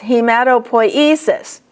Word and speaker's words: hematopoiesis: The next one is poiesis. There are a lot of words that end in poiesis. Hematopoiesis. The accent's going to be always on E.